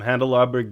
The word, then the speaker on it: Handelabra: with John Arnold from handle our burg games did I pronounce that right yep and glabra games like candelabra yes exactly just like candelabra Jeremy's last name is